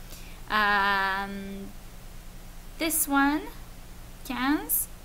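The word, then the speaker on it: quinze: s um this one cans should sound like some cans of Coke okay so not Quinns or anything like that but cans this one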